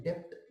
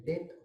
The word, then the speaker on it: debt: Indebtedness मतलब हमेशा इंडेट, अब ये DEBT है, पर उसका प्रोनाउंसिएशन डेप्ट नहीं होता है, डेट होता है, डेट, DEBT, DEBT, डेट।